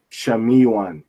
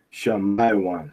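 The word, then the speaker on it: שמעון: Esos son la tribu no dice Simón o Simeón, dice Shamiwan. Shamiwan o se dice Shamaiwan. Se pronuncia así.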